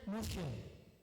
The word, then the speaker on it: monsieur: Tulisannya monsieur, bacanya monsieur.